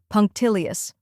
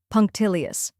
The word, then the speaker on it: punctilious: punk rock next is till which rhymes with pill and is the stressed syllable then comes e which